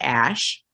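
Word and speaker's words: Æ: she says grime says is the elven spelling of a i which is like intelligence or ai and it's pronounced ash and then archangel 12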